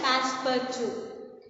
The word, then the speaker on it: Passepartout: It's pronounced as Passepartout.